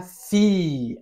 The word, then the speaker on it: fille: Mi c'est ensuite le féminin, la fille. Alors ici on prononce. Ya v que suena la L. No sé si te acuerdas de esta reglita. La I en francés suena como una i nada más.